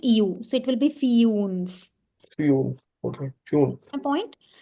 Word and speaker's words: fünf: this and it becomes fiunf. So there is a difference between funf and fiunf.